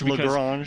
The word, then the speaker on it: Lagrange: Is it Lagrange or Lagrange? It's Lagrange. I think depending upon what part of America or the part of the world you're from, it could be a different pronunciation there. Daryl reminds me all the time it's Lagrange, but if you're from the south, it's probably something else.